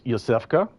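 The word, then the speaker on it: Iosefka: So, we saw the popup there that said the way to pronounce that name is Yusfa.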